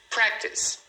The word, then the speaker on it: practice: Practice então é uma palavra que você olhando parece que ela tem três sílabas, mas na verdade ela tem só duas. Você pronuncia practice. Practice.